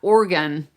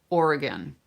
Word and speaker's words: Oregon: people from Oregon, and you can't say Oregon, how it's spelled. And it's not Oregon like a piano and an organ. It's Oregon. Oregon. So, where you live, it's important that you say it properly.